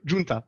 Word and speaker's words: Giunta: Notre invité pour en parler, Giunta, est-ce que je le prononce bien? Allô, bonsoir. Ça va, sinon Giunta.